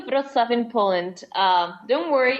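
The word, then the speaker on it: Wrocław: to be held I I hoping it's pronounced something like Vitz is that right yes so the city of vof in Poland um don't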